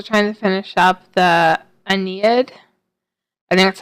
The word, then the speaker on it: Aeneid: that I'm also trying to finish up the Aeneid that's how you pronounce it I somehow lost or misplaced this